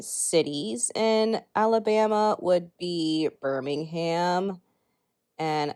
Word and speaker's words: Birmingham: would be birmingham and there would be a distinction between the city pronunciation in the uk we actually pronounce the h here in the states not sure why it's different but we do and also there is